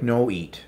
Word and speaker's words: Nwat: Her name is pronounced like No Eat.